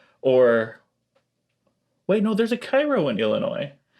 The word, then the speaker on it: Cairo: Or wait, no, there's a Cairo in Illinois. They don't pronounce it Cairo. No, it's Cairo.